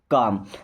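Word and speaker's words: calm: है रहना सो रहो काम देखिए इस वर्ड में एल साइलेंट है क्या कॉलम नहीं पढ़ना है काम का मतलब होता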